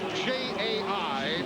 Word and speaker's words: Jai: Spells his first name J-A-I. Pronounces it Jai.